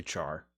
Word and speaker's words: char: not like, oh yeah, I definitely pronounce it as car. I do not say char.